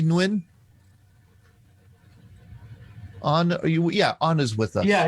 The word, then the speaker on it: Nguyen: I always say Nguyen. Nguyen. Yeah. Nguyen. Without the N, Nguyen. Right? And there's I think the dialects are different, north and south. In south, it's Nguyen.